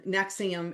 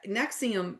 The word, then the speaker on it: NXIVM: And um Nexium. And that is spelled NXIVM if anybody hasn't heard of it. That's kind of a newer one. And then Heaven's Gate. And these people, Nexium probably was the most